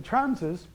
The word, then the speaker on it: Thrams: In German it's Trams. They don't have a TH sound.